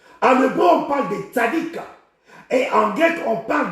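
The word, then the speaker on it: צדיק: Le mot juste ici, en hébreu, c'est le mot tzadik. Le mot tzadik. Tzadik s'écrit T-S-A-D-D-I-Y-Q.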